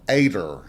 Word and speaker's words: Ada: The er part seems to be a cultural norm of our language in the South.